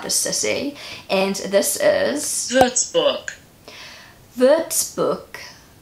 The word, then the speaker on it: Würzburg: I feel like the Berg, like in English we would say Berg, but in German you say it more like book.